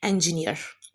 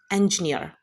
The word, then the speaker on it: engineer: इंजीनियर को English में हम इस तरह से प्रोनाउंस करते हैं engineer, engineer, right? So next time don't mispronounce this word. The correct pronunciation is engineer.